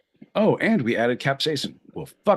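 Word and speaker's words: capsaicin: know how to say this cap cap app capsacin capsacin thank you also only ever read it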